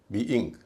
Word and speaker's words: being: BE का उच्चारण बी, ING का इंग, बी इंग। इसको बिंग नहीं कहेंगे, बी इंग कहेंगे, बी इंग।